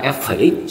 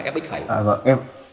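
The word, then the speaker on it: f′(x): đọc là f phẩy x chứ không đọc là f x phẩy.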